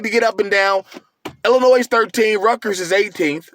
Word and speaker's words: Illinois: okay we've got the illinois fighting illini shout out to you people who say illinois i'm not that that place is two states away and i've i've never pronounced the s but teachers um they're